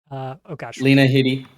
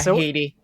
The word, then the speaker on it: Headey: Carl Weathers, Lena Headey. Lena Headey. Is that how you say it? Headey? It's not Headey? I think it is Headey. I'm pretty sure I've heard her say her own name as Headey.